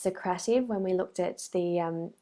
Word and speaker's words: Socrative: haven't already signed up to Socrates or it's actually pronounced socrative when we looked at